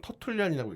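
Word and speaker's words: Tertullian: 저는 이것도 좀 약간 언론에서 너무 안 다뤄서 좀 안타까웠는데 우리가 그 삼위일체라는 말을 최초로 만들었다고 평가받는 뭐 영어로는 터툴리안이라고 읽죠.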